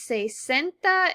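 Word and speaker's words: sesenta: the same exact word however 60 is say centa that one letter that s in the t changes which multiple of ten it is an easy way to remember this is that if you think of the number six it is cis ces has two s's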